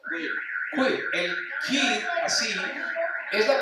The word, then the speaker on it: queer: Sí, es que es LGBT, ahí están los binarios, pero el Q, ¿cómo es que se pronuncia? Queer.